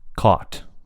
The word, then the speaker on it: cot: So, cot, pretty much, something like that. Cot. But for British English, these two have completely different vowel sounds.